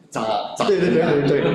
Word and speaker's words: 扎: 复杂的渣 Is it 扎？对。 It's like you stab. Stab.